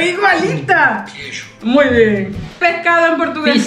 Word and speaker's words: queijo: Queijo. ¡Erro! La pronunciación igualita. Queijo.